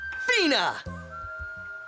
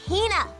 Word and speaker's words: Hina: And this young lady is my traveling companion, the esteemed archaeologist, Fina! Ugh, you keep saying it wrong. It's Hina. Hina.